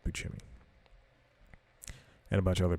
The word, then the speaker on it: Buscemi: and Steve Buscemi yeah it's pronounced peachy me and a bunch of